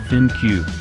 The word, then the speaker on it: ThinQ: it goes again the g7 thing pronounced thin cube carries over a lot